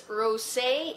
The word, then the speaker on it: Rosé: It's actually Rose in the Air, except they put an accent on the E, so I guess it's Rosé in the Air.